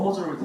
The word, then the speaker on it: majority: 원래 이게 무조건 더 머저리티 오브거든요. 근데 항상 머저리티 오브를 적더라고요. 하시면 바로 감정이에요. 알겠죠? 무조건 더 머저리티 오브. 또 두 번째로 실수하는 건 뭐냐면 메저리티라고 읽어요. 메저리티가 아니라 머저리티예요.